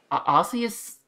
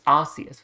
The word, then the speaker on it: Arceus: Because it's Arceus with a soft C.